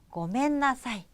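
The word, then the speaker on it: ごめんなさい: 다시 한번 볼까요 자 미안해요 는 뭐라고 한다고요 고멘나사이 미아는 요 버 맨 되겠습니다 자 여러분 요거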